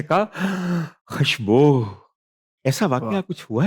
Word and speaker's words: खुशबू: खुशबू है, खुशबू।